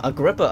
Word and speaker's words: Agrippa: So that's how you pronounce his name, Agrippa, and I thought it was a place by the sounds of it, but it's a person.